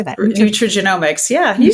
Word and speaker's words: nutrigenomics: Nutrigenomics. How do you say that? Nutrigenomics.